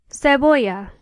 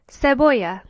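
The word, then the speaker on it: cebolla: Zan Oria onion is seya notice that in this word there are two L's if you remember back to our alphabet lesson this is pronounced aay so the word is pronounced seya tomato is Tom potato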